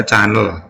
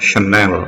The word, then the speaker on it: Chanel: Kalau orang biasa bacanya Chanel, tapi aslinya membacanya adalah Chanel.